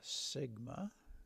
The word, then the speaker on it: Sigma: like an e but it actually uh is pronounced Sigma I'm sure you remember that for minut Algebra